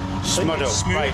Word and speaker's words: Smudo: How did you pronounce that rapper's name? Smuddo. Smudo.